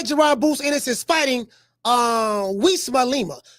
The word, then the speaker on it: Uisma: Even though it's a U.